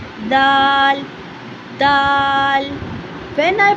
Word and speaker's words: ذ: इफ यू are pronouncing dal you have to know that dal इज़ a voice letter. I pronounce dal दाल।